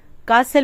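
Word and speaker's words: castle: अगला वर्ड है कासल कासल टी यहां साइलेंट है कासल मीस महल चलिए अगले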